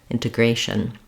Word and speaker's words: integration: shun just as shm there's almost no vowel in that final syllable I if there is going to be a vowel it'll be a little uh sound a little schwa or a little if sound it's a very reduced vouch and I'm just moving as quickly as I can from this to the with whatever little vowel comes in there shun integration thank you you may